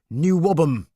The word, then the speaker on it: NWOBHM: shortened to the equally incomprehensible NWOBHM pronounced new wobble the bands involved suddenly found themselves in a national music paper to their great surprise in some cases the new whabam was nothing of the